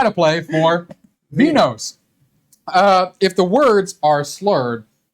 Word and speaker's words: Vinhos: In Vinhos, a Portuguese word pronounced as vinhos, which means wines, you play the role of a wine producer in Portugal.